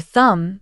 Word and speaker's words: thumb: with the knife next the silent B in words like comb climb and thumb the B isn't pron anounced I need a comb